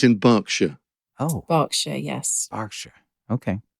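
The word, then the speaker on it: Berkshire: and not leester Square okay yes that's the pronunciation thing like it's in it's in barkshire oh barkshire yes barkshire okay hurricans hardly happen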